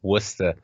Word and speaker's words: Worcester: they end up calling Worcester it's not worth it's not what's too sure that town is called Worcester and yes it's spelled Worchester but deal with that all right next up